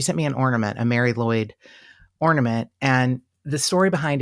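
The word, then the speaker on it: Mari Lwyd: yeah um Karina sent me a Mary it's pronounced Mary lloy but it's m a r i l WYD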